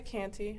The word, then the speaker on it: Canty: can start by giving us your name and spell it and title okay my name is canty i'm the public information officer at rockdale county